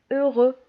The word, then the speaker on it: heureux: وعندنا في بعض الحالات اكس ما كتنطقش نهائيا في لي مو اللي كيساليو ب او. داكوغ باغ اكزومبل heureux شي واحد اللي فرحان.